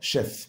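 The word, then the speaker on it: chef: شاف معناها رئيس الطهاره شيف شيف والسيول الاتش هنا مش بننطقهم لا بنقوم شاه كانهم اس اتش شيف يبقى ده شاف ميد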